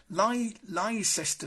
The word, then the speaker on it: Leicester: and we're on to Leicester Square I'm sure that's how it's pronounced sister Square and as you can